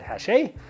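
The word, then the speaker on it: Hachette: to be at hache it's spelled hatchet with two t's and the e but it's a french company it's it's i believe it said hashe and they are going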